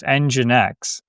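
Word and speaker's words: nginx: like the history of EngineX, so EngineX, it's spelled NG I NX.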